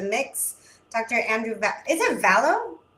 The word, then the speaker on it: Vallo: Is it Vallo? It's Vallo, yeah. But do you pronounce it a different way? No, I pronounce it Vallo.